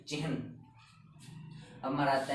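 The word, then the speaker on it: चिह्न: सकते हैं हम चिहन, क्योंकि इसमें न के साउंड लास्ट तक जानी चाहिए, और इसमें न आता है और इसमें है पूर्ण है, इसलिए इसकी प्रोनाउंसिएशन होगी चिहन।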